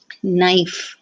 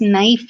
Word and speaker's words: knife: isn't it but then when you spell it you put the k K before that and the K is silent so that is a